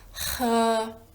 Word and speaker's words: 喝: La prima parolina che vediamo è 喝. Qui facciamo attenzione perché la H in cinese la leggiamo aspirata, quindi pronunceremo questo suono dalla gola facendo passare aria e diremo 喝.